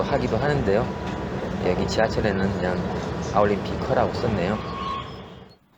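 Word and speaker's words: 奥林匹克: 여기 올림픽 그 지하철 보면 그 올림픽은 그대로 아올림피커라고 그 발음 나는 대로 이제 하나씩 음을 붙여 넣어가지고 이제 아올림피커 올림픽 음을 따와서 음역으로 썼는데요.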